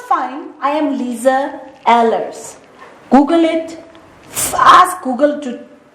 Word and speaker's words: Lize Ehlers: I am Lisa Ellers. Google it. Ask Google to uh pronounce it for you or something.